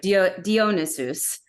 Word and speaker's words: Dionysus: relationship with ariadne and Dionysus or dionesus as I learned is his name pronounced in Greek and then finally but